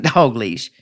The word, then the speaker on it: Dalgleish: what I said and it sounds like dog leash it's d a l g l e i s h d okay you